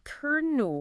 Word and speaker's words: colonel: The actual pronunciation is kernel. Kernel. Kernel. Yep. The als have gone awall. They've disappeared completely. Vanished. And we've somehow gained an R sound in the middle. It's like a phantom R.